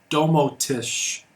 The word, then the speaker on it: Domoticz: itself is webbased and it is called Domo Tish it's spelled D o m o TI CZ and the software that